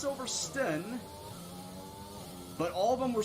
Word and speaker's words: Silverstone: Do you actually say stone, or do you shorten it to the stun?